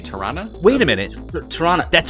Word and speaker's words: Toronto: You say Tirana? Wait a minute. Toronto. That's actually what it's called? So it's if you were to spell it like it sounds, it's T-O-R-A-N-N-A.